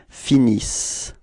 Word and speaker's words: finissent: the verbs, you know, this E-N-T is not really pronounced, it only gives you the pronunciation of the S, okay, so you get, for the verb, you will get ils finissent.